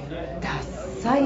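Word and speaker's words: 獺祭: これ獺祭って読むんですよね、はい、飲みます。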